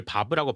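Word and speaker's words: vav: 확실한 발음을 알기 힘드나 림버스 컴퍼니에서 바블 와브 w를 바브라고 발음하고 에고 스킬 설정에서 히브리 문자가 표기되어 있는 것으로 보아 자인 테트 해 바브 알레프로 발음하는 것이 맞는 것으로 보인다.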